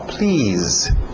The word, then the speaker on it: please: Som de Z aí no final. Please.